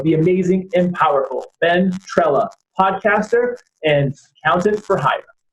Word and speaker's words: Trela: About Ben, rhymes with umbrella, Trela.